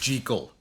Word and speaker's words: Jekyll: And I looked up, I was like, oh, it actually is pronounced Jekyll.